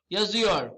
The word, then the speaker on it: yazıyor: Speaker button, just click on this and hear the pronunciation. Yazıyor. Yazıyor, you see that?